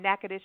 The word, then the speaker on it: Natchitoches: Natchitoches is how you say it.